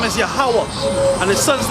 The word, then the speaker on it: Yahweh: Yahweh, Yahweh.